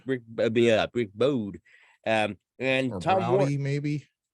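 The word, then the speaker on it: Browde: Okay, so we got Look What the Cat Dragged In, 1986, produced by Rick, if I'm saying the right name, Broer. Bode. Okay, so Bode. Rick Bode.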